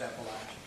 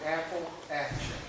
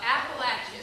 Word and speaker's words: Appalachian: call it Apple music south of the Mason-Dixon Line it's pronounced Appalachian and you're from Southfield yeah somebody's gonna throw an Apple Action uh Appalachian so we are he